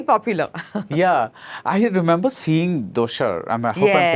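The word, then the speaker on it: Dosar: Yeah, I remember seeing Doshar. I hope I'm pronouncing Yes. it correctly. Doshar.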